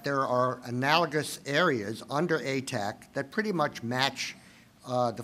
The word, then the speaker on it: ATAC: I would prefer to put the accent on the first syllable and call it ATAC, but ATTAC is just as well.